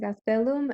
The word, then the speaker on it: Gastelum: hearing officer so it's called i says gastelum and it's spelled